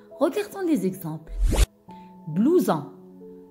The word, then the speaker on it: blouson: Blouson. Blouson. Oui, ici la lettre S se prononce Z parce qu'elle est placée entre deux voyelles.